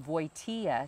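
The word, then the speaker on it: Wojtyła: his twin brother changed their last name from voitea to woodhell now voitea is spelled w-o-j-t-y-l-a and they felt that it was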